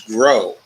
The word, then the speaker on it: Krogh: of the report, Anders Groh, a tropical forest researcher. Groh is spelled Krogh.